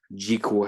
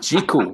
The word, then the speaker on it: Jekyll: Jekyll, I should say. See, it even got me doing it. I get it right, David. Jekyll, rhymes with treacle.